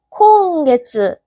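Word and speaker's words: 今月: 얘는 어떻게 읽는다? 콘이라고 읽는다. 그래서 이번 달은 콘게츠.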